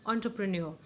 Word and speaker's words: entrepreneur: I know it is very confusing to pronounce this word, but yes, this is a correct pronunciation, entrepreneur.